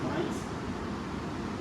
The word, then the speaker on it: Mainz: com o Departamento de Físico-Química da Universidade Johannes Mainz, essa pronúncia correta, na Alemanha.